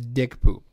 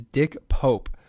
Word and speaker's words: Dick Pope: accidental techies a pretentious dentally mispronounced the name of mr. Turner's cinematographer as dick boo his real name is dick Pope which provides its own